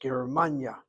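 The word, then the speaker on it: גרמניה: Hit the second of the three syllables, Germania. Why? Based on Hebrew, that second syllable is a closed syllable with a short patah.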